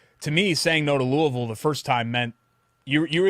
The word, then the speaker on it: Louisville: And I know some people say Louisville, but really it's Louisville.